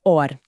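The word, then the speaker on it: אור: A pronúncia é idêntica. Soa como or nas duas, mas or escrito com Aleph significa luz.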